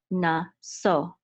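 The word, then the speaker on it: נָשֹׂא: So so this is naso, and we know that the accent is on the last syllable because the letter sin has a trope mark, which is revi'i.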